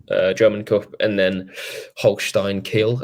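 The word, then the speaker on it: Holstein Kiel: German cup and then Holstein kill I think is how you say the name who I don't think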